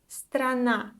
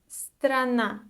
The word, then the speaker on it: страна: And the last word for today is страна. Страна. So, despite the fact that we have 3 consonants together in this word, usually it's not that difficult to pronounce this word.